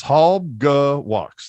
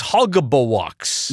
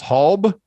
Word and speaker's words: Halbgewachs: It's only 3 syllables. Halbgewachs. That's it. I thought it was Halbgewachs. No, 3 syllables. Halbgewachs.